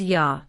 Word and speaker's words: ja: J is called yacht and it sounds like Y in English. For example, yes is pronounced as ja.